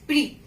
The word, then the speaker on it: prix: So we will not pronounce X at the end of word. Here it is prix.